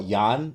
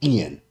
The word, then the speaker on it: Ian: right now you know people still call yon nipomniachi ian right ian ian like ian it's but it's